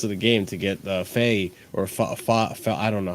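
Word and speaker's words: Faes: It took until like the very final minutes of the game to get Faye or I don't know how to say his name. Faye sent off. Whatever. FaZe?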